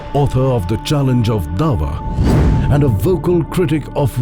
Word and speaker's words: Da'wah: Ayan Hirsi Ali, author of The Challenge of Dawah and a vocal critic of radical Islam, highlights the fundamental role of Dawah, the Islamic practice of proselytizing. And you've written this book about it, The Challenge of Dawah, which I'm sure I'm mispronouncing.